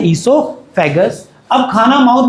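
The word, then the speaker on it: oesophagus: अब बात करते हैं ओसोफेगस की। अब खाना ओसोफेगस या उसको इससोफेगस कहते हैं। ओ is silent. O is silent. उसको बोला जाता है इसोफेगस।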